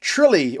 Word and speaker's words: Tralee: I've never heard of, including one which is pronounced Tralee, although the pronoun- pro- the spelling is more like Tralee.